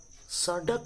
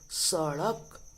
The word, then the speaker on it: सड़क: सड़क नहीं, सड़क। क्या पढ़ेंगे? सड़क।